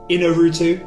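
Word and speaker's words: Iñárritu: Can I just pronounce this for you? Yeah, of course. Alejandro Inarritu.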